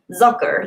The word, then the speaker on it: Zucker: Zitronnej kojot, zucker. That makes sense. The zitro is citrus. Citrus. Yeah, lemon. Kojot. I don't know how to pronounce that. Kojot, coyote. Zucker, like sucker. Sugar. No, zucker.